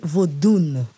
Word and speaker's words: vaudou: Le mot vaudou est prononcé vaudoun dans le langage fond, c'est-à-dire le langage dahoméen, le langage littéraire dahoméen.